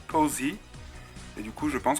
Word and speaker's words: Posea: à posé Harif alors moi je dis poséa puisque bah voilà j'ai envie de dire poséa mais dans le film elle appelle posé je pense que c'est parce qu'en anglais son prénom doit se prononcer Posy et du coup je